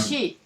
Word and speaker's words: Xi: Chairman Z, how do you pronounce his name? XI. It's Chairman Xi, yeah. Xi.